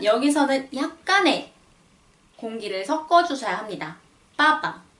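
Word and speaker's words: папа: 빠빠. 빠빠. 여기서는 푸 발음은 온데간데 없고 깨끗이 쌍비읍 발음만 들려요.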